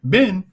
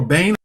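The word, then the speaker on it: בן: Ben or Bain or Bain, however you want to pronounce it, it means son.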